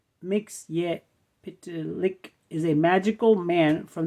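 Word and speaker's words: Mxyzptlk: the city of metropolis Mr mixp pronounced mix pck is a magical man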